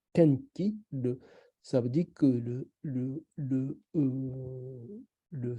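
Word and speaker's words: 天気: Par exemple, quand on dit le tenki, on prononce au Japon tenki, ça veut dire que le souffle de ciel.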